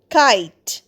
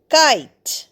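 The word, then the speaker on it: kite: উত্তেজিত করবে next come কাইট কে আইটি কাইট এখানে দেখো ই উচ্চারণ হচ্ছে না আইটা হচ ভাল সাউন্ড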